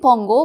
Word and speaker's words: Pongo: to tell you that it is written and pongo but n is silent so you pronounce just Pongo he stood about 18